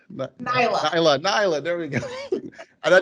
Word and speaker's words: Nailah: be uh knight i just lost how to pronounce it naila nyla there we go and i just practice it so can you can you introduce yourself to uh to us sure my name is nyla and i am a life and leadership